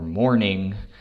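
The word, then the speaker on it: mornin': ing like sitting or mourning but they're pronounced sittin or mournin it's a very casual way to pronounce those words sitting is the opposite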